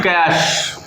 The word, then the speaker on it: cache: देखिए यहाँ पे लिखा तो CACHE है, बट इसको पढ़ते हैं वही कैश। तो अगर इसका प्रोनाउंसिएशन बताया जाए तो ये कैश मेमोरी कहलाता है।